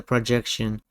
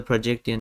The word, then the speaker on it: Projecttian: So they go the projection immediately their head corrects it to the projection. like something subconsciously is forcing them to forget that it's pronounced the projectian.